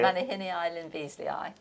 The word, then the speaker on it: Manihinea lynbeazleyae: I'm not going to attempt the pronunciation, but can you... Manihini Lyn Beazley.